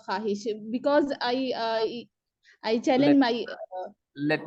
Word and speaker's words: ख्वाहिश: सर लिखते इसको ऐसे ही है, सही लिखा है। हम उर्दू में भी ख्वाहिश ही लिखते हैं, लेकिन पढ़ते उसको प्रोनाउंसिएशन ख्वाहिश होगा सर।